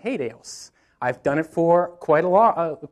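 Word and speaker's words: HATEOAS: working with this i i looked up how do you pronounce this in an acronym form you know how many different pronunciations there are out there i have not seen one that has overlapped so i'm calling it hadeos i've done it for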